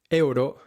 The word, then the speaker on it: euro: The next words trip up many visitors to Spain and Europe in general. Euro, Europa, are not pronounced euro or Europa, but euro, Europa.